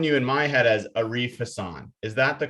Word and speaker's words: Arif Hasan: No, you got it. That's what I go by. It's just if you ever go to like an Arabic speaking country or a Muslim dominant country, that's not how they're going to pronounce it, but that's how I pronounce it.